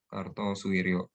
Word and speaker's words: Kartosuwiryo: Pemberontakan DITI itu pencetusnya atau pelopornya itu Kartosuryo, Sekar Maji Marijan Kartosuryo. Sekar Maji Marijan Kartosuryo. Ini masa dipakai ejaan namanya. Kartosuwiryo. Suwiryo.